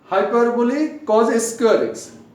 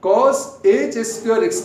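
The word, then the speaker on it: cosh² x: একইভাবে দেখো হাইপারবোলিক কজ স্কয়ার এক্স, হাইপারবোলিক sign, এটার উচ্চারণ দেখো হাইপারবোলিক কজ স্কয়ার এক্স, কজ এইচ স্কয়ার এক্স না, হাইপারবোলিক কজ স্কয়ার এক্স minus হাইপারবোলিক sine স্কয়ার এক্স।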